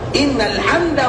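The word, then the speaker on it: إن الحمد: Innal hamdah, pakai tamar buta di belakangnya. Kalau berhenti di dalam ejaan membaca bahasa Arab innal hamd, itu cara berhentinya. Tapi kita agak sedikit maju, innal hamdah, artinya nanti bisa jadi salah di dalam pengucapan.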